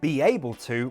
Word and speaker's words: be able to: We insert a yuh sound between B and able. Be able. Be able to. Stress on a.